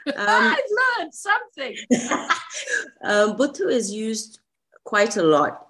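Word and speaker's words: Botho: When is the word Buthu used? Am I saying it right? Yes, you're pronouncing it very well. I've learned something. Buthu is used quite a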